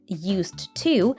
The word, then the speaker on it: used to: Well, we have a D and T together. Usually we just pronounce one of them. So when he said used to, Bieber dropped the D sound.